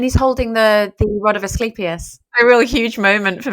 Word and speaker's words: Asclepius: The rod of, I can't even pronounce it. Asclepius.